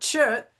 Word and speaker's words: gcod: And I started noticing when I'd have multiple copies of the same text that the word chut, which if I were going to kind of say it in English is spelled GCOD, was sometimes instead of